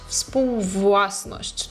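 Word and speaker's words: współwłasność: Вспувласность. Тут най навіть по тому, як я вимовляю, е, ви можете побачити, що найскладніший момент, коли в нас збігаються ву і еу.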